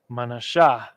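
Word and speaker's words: מנשה: word not the end ma na right and then we have the Shah and then we have the ha connect those two together the tribe of Vanessa the so-called Cubans right manasha I'll give that a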